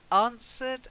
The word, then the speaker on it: answered: vexing to be vexed answered has a silent W to answer somebody not